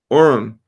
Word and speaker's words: Urim: And then in verse 8, it says, the Urim pronounced Urim referred to light and the Thummim to be made perfect.